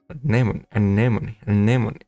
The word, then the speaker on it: anemone: How do you mispronounce an N? How? Your tongue is your behind your top teeth and let the air through your nose. Anemone.